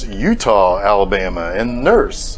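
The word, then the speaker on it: Eutaw: silly goose in Alabama it is e-u-t-a-w now look I don't want to be a dick to Alabama but frankly come on guys I would think that Utah should be spelled like the state but the [ __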